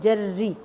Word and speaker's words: جری: تو ادھر آپ دیکھیں جری، جیم زبر جر زیریا ساکن ری، جری بولیں گے تو اعراب آٹومیٹیکلی ٹھیک ہو جائیں گے.